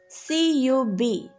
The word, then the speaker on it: cub: sent next word is c u b how do we read this cub here c is before you so it says the sound of k cub so right here c